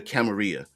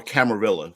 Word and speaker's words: Camarilla: Um we used to combine all the the pronunciation so that if you were stateside, it was a Camarilla and a Sabbath. And if you were uh foreign from the old world, it was the Camaria with the double L's being pronounced like a Y.